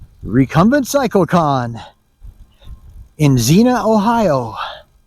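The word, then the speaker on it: Xenia: It's Recumbent Cycle Con in Zena, Ohio. It's weird because it starts with an X. X N I A, but it's pronounced with a Z. Zena.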